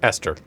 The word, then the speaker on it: Esther: Esther. That's weird to me. There's an H in there. No, it's a silent H.